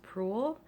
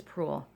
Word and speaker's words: Proulx: think your name is last name is pronounced cruel PR o ux l I'm sorry LX I think it's Proulx um you are the winner